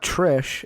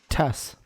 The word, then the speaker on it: Tess: No, her name is not Trish. It is... Tess.